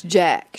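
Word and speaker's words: Jaq: It's Jack, short for Jacqueline. Jacqueline. Oh, J-A-Q.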